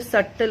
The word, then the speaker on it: subtle: This is इसका pronunciation करते समय सटल बोलना है. Okay, B silent.